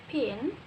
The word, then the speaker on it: pin: In the word pin, there is like an invisible H between the P and I, so we pronounce it pin, not fin.